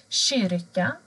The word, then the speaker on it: kyrka: Kyrka. Här ser ni en kyrka. K och Y blir sj.